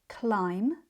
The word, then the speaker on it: climb: Climb, thumb, comb, lamb, bomb, crumb, numb, dumb, and plum are all spelt with B at the end, but we don't pronounce it.